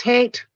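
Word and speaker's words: Hite: is it is how you say your last name she's past this the governor it's hate hate yeah just like straight okay and you're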